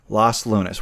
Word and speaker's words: Los Lunas: okay I said it right this time okay Los Lunas which is 45 minutes south of Albuquerque this